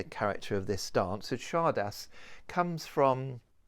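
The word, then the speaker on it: csárda: of this dance had chardas comes from the Hungarian charda I think it's pronounced like that and it means a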